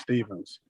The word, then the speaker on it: Stephens: actor comedian comedian actor stevens is the stefans or stevens steven stevens what's up people okay that's right it's one of those names yeah it's it's spelled stephanie's but it's pronounced stevens okay my slave masters were creative man